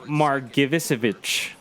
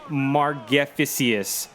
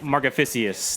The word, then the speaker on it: Margevicius: Nick Margevicic. Nick Margevicic. I have no idea how to say that. Nick Margevicius. Nick Margevicius.